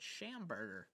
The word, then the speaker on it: Schamberger: And again, his last name does sound like hamburger. It's just put a shush in the beginning of it, and you get Schamberger. Yeah, it rhymes with hamburger.